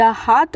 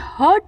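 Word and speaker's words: heart: बोलना चाहूंगी यहां पे हर्ट नहीं पढ़ना है तो बहुत लोग पढ़ते हैं हर्ट एच यू आर टी हर्ट होता है ठीक है यहां पे हार्ट इसको पढ़ते हैं एच ई आर टी हार्ट और दूसरा चीज जो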